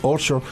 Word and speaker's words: Urschel: Urschel about, did I mispronounce it? It's okay. Urschel.